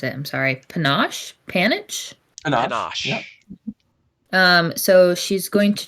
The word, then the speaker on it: panache: So she's going to, I don't know how to pronounce it. I'm sorry. Panache? Panache.